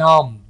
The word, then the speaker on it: numb: My fingers are going numb. बी को यहां पर साइलेंट रखें.